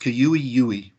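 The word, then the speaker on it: cui-ui: the the qeu II now we usually just say qui oui but in Paiute it's pronounced kua ue and they are found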